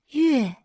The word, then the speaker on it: 月: Its pronunciation is 月 It refers to the moon and also to months, the natural way to measure time in lunar calendars.